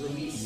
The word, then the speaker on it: Ruiz: Z's are S's, and it's, every vowel gets its own syllable. So it's Ruiz.